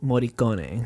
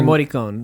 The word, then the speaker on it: Morricone: Ennio Morricone. Right. And or Morricone. Right. I've heard it both ways.